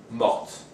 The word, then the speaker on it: morte: Normally, the T of mort is not pronounced if it's masculine, either singular or plural, and doesn't have an E at the end. But when it's feminine with an E at the end, and in this case an S also because it's plural, dinde, we get morte with the T pronounced.